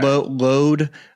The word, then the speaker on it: Louth: Load, I think, is how they pronounce it. County Load. Okay. But County Louth, they kind of go by whatever you call it.